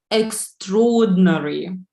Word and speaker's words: extraordinary: listen to me and say which letters are silent extraordinary extraordinary extraordinary what is silent foreign okay something more yes second R and I should I are true yeah that's right this one and I is silent first indeed yeah so